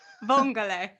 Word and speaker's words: vongole: Vongole. Vongole. Am I right? Did I say it right? Vongole. Yeah. Vongole.